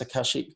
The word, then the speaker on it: Akashic: Did I pronounce Akashic correctly?